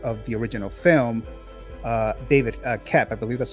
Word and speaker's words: Koepp: So and the writer, this original screenwriter of the original film, David KOEPP, I believe that's how you pronounce the last name. I think the O is silenced if I'm not mistaken.